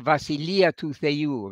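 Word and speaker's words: βασιλεία: the kingdom of God in Greek the vasilia using the modern Greek pronunciation which we did at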